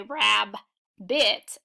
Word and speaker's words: rabbit: I pronounce the word rabbit rabbit you don't hear two separate sounds I don't say Rab bit I say rabbit again the first B